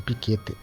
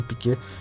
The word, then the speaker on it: Piquet: Ali eles se escrevem como Nelson Piquete, mas é um Nelson Piquê.